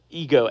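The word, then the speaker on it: ἐγώ: Ego. Ego in Greek is how you pronounce it.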